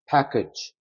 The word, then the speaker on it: package: 자, 여기 가만히 보시면 여기도 A가 들어가고 여기도 A가 들어가는데 발음이 여기에 강세가 들어가기 때문에 여기가 에 사운드가 되고 얘는 특이하게 여러분 이거는 E 사운드 나옵니다. package.